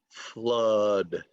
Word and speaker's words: flood: it's pronounced it it's it's not pronounced like it looks it's pronounced flood so uh uh flood